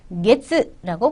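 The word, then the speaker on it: げつ: 게츠라고 붙입니다. 어두에 타금 있어요. 캐츠 아니고요. 게츠 붙여서 게츠요비 되겠고요.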